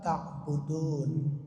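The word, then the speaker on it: تعبدون: nunnya kita matikan lagi Kenapa dimatikan karena kita Bacanya apa waqaf ya kita berhenti baca la abudu ma tabudun Tuh kan nunnya mati padahal Nun itu hidup kan Nah kan Nun nya hidup nah tapi karena kita bacanya mau waqaf saja berhenti Ya sudah berarti nunnya mati Padahal bapak-bapak kalau kita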